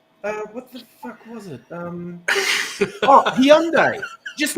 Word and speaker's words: Hyundai: them and I'm like, how do you pronounce it? If I'm going to own the car, I want to pronounce it right. And they told me it was Hyundai, which I find stupid, but apparently the company calls it Hyundai.